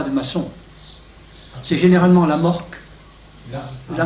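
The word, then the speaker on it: AMORC: C'est généralement la morque. La morque. A-M-O-R. Oui, la morque comme ça se prononce, quoi.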